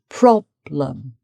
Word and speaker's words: problem: And then a letter E here, problem. So the stress is on problem, problem.